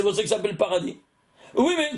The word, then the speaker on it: paradis: Tu es au paradis? Alors c'est pour ça que ça s'appelle paradis. Oui, mais quand tu dis en français, le S, il se prononce pas.